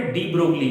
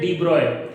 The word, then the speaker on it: de Broglie: अब इसका दूसरा एस्पेक्ट भी था कि भाई एक साइंटिस्ट थे हमारे डी ब्रोगली, वैसे तो हम कॉमनली डी ब्रोगली बोलते हैं, बट ये प्रोनाउंसिएशन है डी ब्रॉय।